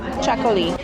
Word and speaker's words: Txakoli: Chacoli. The T and the X is a ch sound, so it's chacoli.